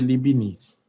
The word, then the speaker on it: Leibniz: cara matemático chamado libbs se escreve aqui leibniz mais pronuncia libinis tá E aí essas